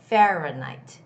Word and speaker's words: Fahrenheit: have to say height it's fahrenheit sounds more like night like day and night fahrenheit fahrenheit okay and